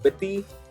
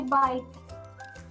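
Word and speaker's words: bite: it's called bet and if you add e you cannot say biti that would be inappropriate the appropriate way to say it is the way how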